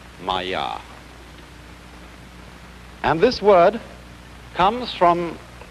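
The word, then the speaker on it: māyā: And in Indian philosophy, the fundamental word for this kind of thing is the Sanskrit term Maya. I'm going to write that down for you. Pronounced Maya.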